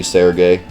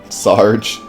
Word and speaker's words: Serge: from now on Serge is a French name but is a pronounced Serge pretty much don't pronounce the e there could be like surd